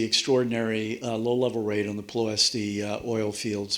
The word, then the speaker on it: Ploiești: This was the extraordinary low-level raid on the Ploiești oil fields, Ploiești, a Romanian would pronounce it, in Romania.